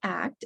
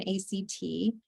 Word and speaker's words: ACT: with medical patients and it's pronounced act as a word rather than act and there's a lot